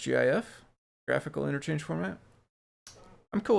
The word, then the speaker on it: GIF: According to Fran Blanche, it's pronounced GIF, graphical interchange format.